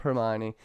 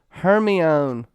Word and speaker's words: Hermione: lenders baby and I gotta get this right Hermione said that wrong so many times what is up Hermione no one corrected me everybody's an [ __